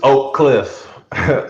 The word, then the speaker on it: Oak Cliff: correct pronunciation it's oak cliff um it's two syllables but i mean if